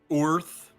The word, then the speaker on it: Oerth: Or Oerth, as it's, quote, supposed to be pronounced, but no one will ever pronounce it that way, because fuck you, Gary, that's stupid.